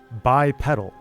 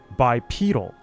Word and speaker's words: bipedal: In North America, the short e like pedal is the standard. Most American dictionaries, Miriam Webster and American Heritage list bipedal as the primary pronunciation. UK English bipedal. In British English, the long e like bead is the standard. If you look at the Oxford or Cambridge dictionaries, they will tell you it's bipedal.